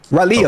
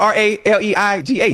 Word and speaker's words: Raleigh: I've been to Raleigh twice. Raleigh. Oh, okay. Close enough. That's how you say it? How you say it again? You for real? But it's spelled R-A-L-E-I-G-H. Raleigh. That's Raleigh. Close enough.